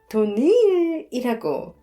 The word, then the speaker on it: 도니엘: 우리 성은 도니엘이라고 니를 강하게 발음해야 해요.